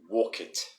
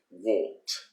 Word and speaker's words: walked: one exactly the same they say walk it walk it but the correct way if you want to sound like a native we say walked i walked we walked